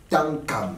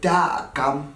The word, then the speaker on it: Tam: depuis que vous m'invitez vous ne faites que rater mon nom ce n'est pas comme ça qu'on prononce ah bonjour monsieur j'allais dire Takam bravo monsieur le journaliste vous avez encore raté c'est Tam monsieur Tam voilà désolé bonjour